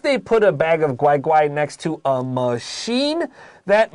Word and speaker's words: 乖乖: read the opinion the the opinion way first yes it is okay now i'll say it correctly if they put a bag of guai guai next to a machine